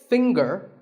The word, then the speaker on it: finger: the G is silent now we say finger we say the G younger again with the